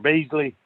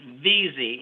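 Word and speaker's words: Vizi: Beasley? No, it's VZ. It's spelled. Okay. And if you just Okay. pronounce the V and the Z, you'll say it right.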